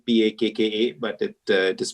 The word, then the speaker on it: Pakka: So we chose the name Pakka actually. It's spelled P-A-K-K-A, but it is pronounced Pakka, but basically means packaging with a soul.